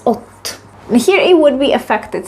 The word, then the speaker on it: od: Also, you might have noticed that the preposition od is pronounced as ot.